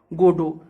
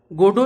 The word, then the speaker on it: Godot: धर्म मजहब कहते हैं गोडो is similar with गॉड in pronunciation which is enough to trigger the ऑडिएंसेस association with गॉड गोडो उच्चारण में गड जैसा है गोडो आल्सो सिंबलाइजेस होप